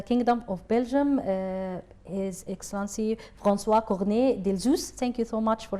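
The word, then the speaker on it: François Cornet d'Elzius: Excellency, the ambassador of the Kingdom of Belgium is Excellency François Cornet Delzus. Thank you so much for having us today. Sarah, you pronounce the name beautifully.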